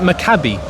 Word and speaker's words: Maccabi: Makabi.